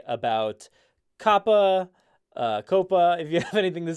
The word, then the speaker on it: COPPA: We're going to start off with this COPPA, however you want to pronounce it. It's COPPA, the Child Online Privacy Protection Act.